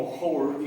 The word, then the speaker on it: whore: O sea, igual que en el caso de whole, no pronuncio la W, ¿sí? sino lo pronuncio como whore, y whore hace referencia a prostituta.